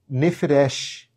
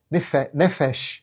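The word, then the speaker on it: נפש: Não é nefresh, é isso mesmo. Nefes nefesh. É assim que se pronuncia a sua própria alma.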